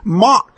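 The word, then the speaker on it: Mach: speed of sound he pronounced it a soft uh m a soft pronounced it m soft CH and it should be mock hard k word comes from the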